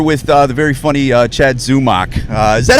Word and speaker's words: Zumock: It's 2 syllables, Zumock. Yeah. You know, and I get Zamak, you name it, I get it all.